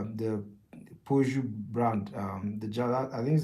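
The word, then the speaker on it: Peugeot: a German German car we call it Pidgeot instead of like Po like I think that's that's that's the right way to pronounce it I think we call it Pot very funny pictures.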